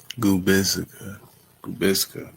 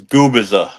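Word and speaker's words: Gubicza: Gubisa. Gubisa. No, the the C is silent. So, it's goubbizer.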